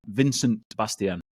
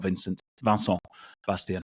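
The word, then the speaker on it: Vincent Bastien: Van Bastian uh vinc Vincent Vincent Bastian not Vincent vanon Bastian there you go apologies for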